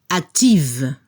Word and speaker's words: active: Cambiamos la F por VE. Y a nivel de la pronunciación al femenino se debe escuchar el sonido V. Active.